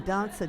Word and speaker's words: danza: Everyone say danza. And it's important in Italian and anything, sing the vowels.